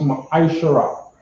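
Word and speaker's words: מַעֲשֵׂר: It means 10th in the Hebrew, and it's pronounced Ma'ishara, right?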